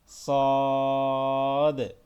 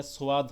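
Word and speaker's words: صاد: সদ, এটা সোয়াদ হবে না, সদ হবে, অনেকে সোয়াদ পড়ি আমরা। সদ।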